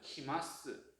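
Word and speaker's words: 来ます: 푸르를 존댓말로 만들면 키마스예요. 자, 일단은 자, 그럼 스루에 마스를 붙이면 시마스니까 마스케는 뭐죠? 시예요. 이게 바로 나와야 돼요. 끊어주면 되겠죠? 이렇게 끊기. 그 다음에 쿠르 오다에 마스를 붙이면 키마스.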